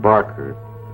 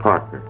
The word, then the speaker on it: Parker: got my name wrong it's not Barker it's Parker I got myself